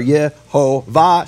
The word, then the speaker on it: Yehovah: Like that's just the facts we can all agree on concerning the vowel shvach olam kamatz, which are Yehovah shvach olam kamatz.